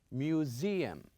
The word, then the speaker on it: museum: Apartment and also we have museum. Museum. As I remind you last time here you can see the s but we pronounce it as zed.